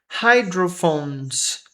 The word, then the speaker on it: hydrophones: Hydrophones. Hidrofones called. A gente não lê esse e aqui. Hydro. Hydro phones. PH com som de F de novo.